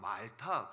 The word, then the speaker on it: 몰타: 있는 몰타 선물 말합니다이 독일 사람들은 그걸 말타고 발음해요 예 그 MTA 예 영어로는 이제 몰타 이러는데 여러분들 그 독일에 몇 번 와보시면 아시겠지만 독일 사람들 그걸 그냥 아로 발음 하잖아요 그래서 몰타 말타 그럽니다 몰타는 굉장히 독특한 섬이에요